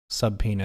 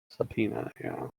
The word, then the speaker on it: subpoena: they sent it subpoena is how the word is spelled subpoena is how it's pronounced subpoena well let us know in chat a related